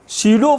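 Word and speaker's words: pseudo: उस फोर्स को शीडो फोर्स बोलते हैं। पी साइलेंट है बच्चों।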